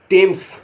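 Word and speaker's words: Thames: ई देर माने वहां कई बार टी एच हिंदी का अक्षर ट टी की ध्वनि देता है जैसे टी एच ए एम ई एस टेम्स टेम्स टेम्स माने टेम्स एक नदी का नाम है टी एच ओ एम ए एस टॉमस थॉमस एक व्यक्ति का नाम है याद रखें टी एच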